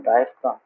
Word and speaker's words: diaphragm: Have you heard the term डायफ्राम? उसको ग्राम नहीं बोलता है, ए स्पेलिंग। तो हम लोग का लंग्स